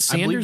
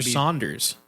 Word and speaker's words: Saunders: pronounce this name s-a-u-n-d-e-r-s is it Sanders or Saunders I believe that would be Saunders okay red Saunders I